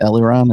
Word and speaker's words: Eliran: this uh i'm sorry your name is pronounced eliran is that am i right yes i don't want